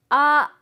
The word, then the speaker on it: ア: こちらはあですひらがなのあと同じ発音です口を大きく開いてあーあー皆さんも